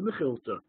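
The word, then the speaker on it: Mekhilta: Well, this is usually pronounced, people in the yeshiva world anyway, usually call it the Mechilta.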